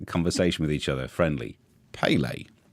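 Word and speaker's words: Pelé: I think you were right to bring in the Pele there.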